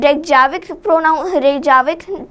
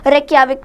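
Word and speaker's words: Reykjavík: तो ये याद रखिए कि यहाँ पे लिखते जे हैं, लेकिन रेक्याविक प्रोनाउंस नहीं करेंगे, रेक्याविक प्रोनाउंस करेंगे।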